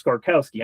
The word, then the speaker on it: Skorkowsky: though that it is Skorkowsky. I'm saying it right, right? You got it. Yeah, it's it it it it it's it is pronounced exactly the way it's spelled.